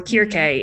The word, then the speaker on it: Circe: So like there's characters or people referenced who are named like Medea and Circe or Kirke, if you know Greek.